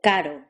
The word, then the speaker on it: caro: R, the R trill, as in carro, and D, the R tap, as in caro.